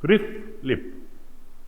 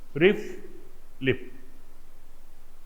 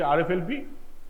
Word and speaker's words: RFLP: how do you pronounce it it like this RI lip RI lip rflp we pronounce it RP if you say rflp you are a noice in science say lip